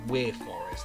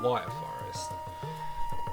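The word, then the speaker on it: Wyre Forest: and um wire and then wire for I think it's supposed to be pronounced we forest but I've always called it wire forest I'm going to throw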